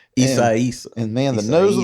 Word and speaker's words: Isaias: It was like during Hurricane Isaias, I think is how you pronounce it. Isaias.